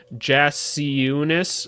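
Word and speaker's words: Jakučionis: It's kind of like Valanciunas. I remember that. Jakucionis, I'm going to say, because he's also from Lithuania or whatever.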